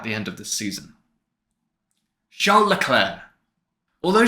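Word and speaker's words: Charles Leclerc: it happening at the end of the season Leclair although Charlotte Clair and you do pronounce it like that I promise is in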